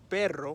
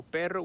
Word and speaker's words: perro: It would be like saying perro, right? So perro would be the the Spanish word, but if I try to use my accent right now, I'm going to say it like perro.